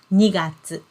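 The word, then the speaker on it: 二月: And we pronounce it as 2月.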